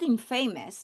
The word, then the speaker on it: infamous: It's not in famous. It is infamous. And now I am changing the stress. So it's moving to the this syllable, the beginning syllable infe. And I'm changing the vowel sound.